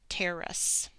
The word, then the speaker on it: terrace: rule in English so my syllables are tear Russ and the e is silent this is a terrace a terrace a terrace